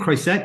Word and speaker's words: Chet: introduce you formerly Jeremy do I say your name Chet is that the right way to pronounce your last name it is one of the the few people that's ever said it right ah right points